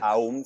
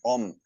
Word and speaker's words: Om: No, porque otra manera de entender el OM también puede ser como esa O, porque uno no canta el no pronuncia mucho el AUM, sino que es más OM.